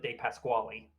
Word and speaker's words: de Pasquale: Norman but no apparently you're supposed to pronounce it de Pasquale like you don't speak French and that and that's